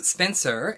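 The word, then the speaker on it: Spensa: is spencer uh and that is spelled s-p-e-n-s-a so not s-p-e-n-c-e-r that you'll pronounce spencer if you're american but spencer with an sa so just to avoid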